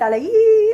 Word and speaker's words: allée: forgot to mention this: we don't pronounce them any differently, whether you get an E or an S. It's not like I'm going to be like il est allé, elle est allée. Like I'm not just going to add on a whole bunch of extra sound because it's a girl.